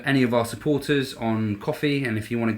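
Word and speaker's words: Ko-fi: I just want to say thank you again to any of our supporters on Coffee, and if you want to go on there, so that's spelled Ko fi.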